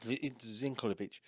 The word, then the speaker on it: Zeintkiewicz: It's Zinkovich.